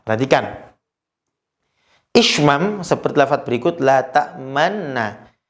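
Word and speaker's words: لَا تَأْمَنَّا: Maka cara bacanya ada 3 cara. Ada 3 syarat cara bacanya. Yang pertama, harus la ta'man ditunjukkan kalau itu ada nun sukun. Maka bacanya la ta'man, kemudian menunjukkan ishmamnya. La ta'man mencucu, la ta'man. Nah, mencucu kemudian kembali ke yang ketiga, kembali kepada nunnya yang bertasydid.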